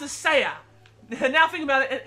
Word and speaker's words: SEAT: and when i came into this game i pronounced the company as seat like it doesn't like the thing you sit